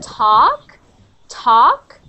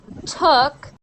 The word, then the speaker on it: talk: I want talk, took, take. Try again. Talk, talk, So opposite sounds. So when you say took, this is actually the wrong pronunciation of to talk, talking.